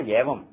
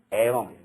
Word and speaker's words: Evam: This is not Yavam. Yavam would be, this would be Yavam, which has no meaning in Sanskrit. This is Evam, not Yavam. So, Evam Veda, that's the correct pronunciation.